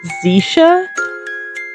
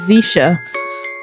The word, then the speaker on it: Zeisha: Okay, I'm told this is pronounced Zisha. Nice to meet you, Missy. I'm My name's Zeisha.